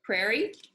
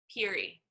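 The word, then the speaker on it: Peerie: Prairie or Peary? How would you say this? Peary. That's why I always spell it wrong when I try to Google it.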